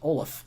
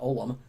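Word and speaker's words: Ollam: how to pronounce it it's actually pronounced olaf not olam then then you're someone who knows me introduce yourself and you say hey olaf i have a question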